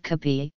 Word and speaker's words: kape: Filipinos have a number of options to take with kape, which is the Filipino pronunciation of cafe, breads and pastries like pandesal, ensaymada, hapia and empanada.